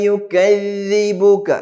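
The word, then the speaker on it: يُكَذِّبُكَ: ഫമാ യുകദ്ദിബുക ബഅദു ബിദ്ദീൻ. എങ്ങനെ? ഫമാ യുകദ്ദിബുക ബഅദു ബിദ്ദീൻ. ഇവിടെ ഈ ആയത്തിന്റെ ആദ്യ ഭാഗം ഫമാ യുകദ്ദിബുക എങ്ങനെ പറയേണ്ടത്? ഫമാ യുകദ്ദിബുക യുകദ്ദിബുക ലാണ് അല്ലേ. ഫമാ യുകദ്ദിബുക യുകദ്ദി സ പറയരുത്, വലിയ തെറ്റാണ്, മനസ്സിലായല്ലോ.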